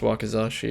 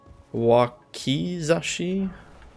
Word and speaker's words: wakizashi: moon veil i guess it shouldn't even be pronounced wakazashi it should be wakizashi same difference i guess